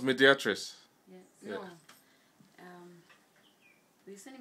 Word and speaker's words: Mediatrice: say hello mediatr it's pronounced mediatr yes no um you send medat mediat so